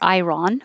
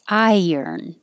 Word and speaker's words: iron: than we pronounce it it looks like i run or iron but we say i yearn so i spelled it